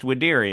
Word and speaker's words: Videri: up the pronunciation, and even though it is spelled with a V, it's pronounced Widiri as far as the Google told me, so...